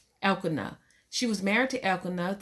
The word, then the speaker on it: Elkanah: soul anyway hannah um was married to el canada now it could be saying that rome um you know the word sometimes the names in the bible but it is spelt e-l-k-a so if i'm wrong then get it right elkanah she was married to